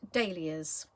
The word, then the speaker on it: dahlia: of ways the delicate dahlias now i've heard people pronounce this in all sorts of different ways i can assure you it is dahlia so this one is